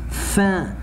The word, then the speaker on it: faim: one in French, together, the last three letters, together, I say it like number one, and, so I say faim.